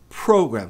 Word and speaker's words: program: Mas com o tempo, se você quiser, quiser ter uma pronúncia melhor, você adiciona, acrescenta esse program. Então, a tônica tá no pro, não é pro, é pro.